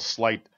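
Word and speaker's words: Sleight: And don't pronounce it Slate. I made that mistake at one point.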